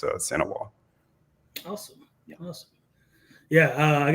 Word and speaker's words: St. Ewart: But Sanois is how you say my last name. The is in French, and you don't pronounce the T in it. So it's Sanois.